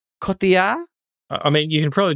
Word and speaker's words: Cotillard: Cotillard? I mean, you can probably do it without the accent. Cotillard? Marion Cotillard is what you're I say. saying Yorkshire, Marion Cotillard.